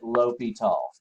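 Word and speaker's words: L'Hôpital: he actually does fellas name like hospital but you pronounce it l'hopital's just say what l'hopital's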